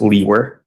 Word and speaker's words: Liewer: my last name is spelled Liewer, and it's pronounced Leewer.